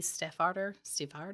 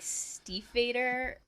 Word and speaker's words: Stiefvater: It's called Bravely by Maggie Steffarder. Steffarder. Ugh. Close enough. One of those. I'm pretty sure everybody pronounces that author's last name differently. I say like Stiefvater. Is it pronounced more Vader?